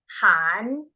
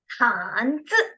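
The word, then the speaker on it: 汉字: Z와 I가 만나서 즈인데 위에서 아래로 내려오니까 씩씩하게 쯔 하시면 됩니다. 자, 그러면 한글 우리 두 개 올라갔다가 내려오면서 중국어로 발음해 볼게요. 한쯔, 한쯔 한 번 더. 한즈.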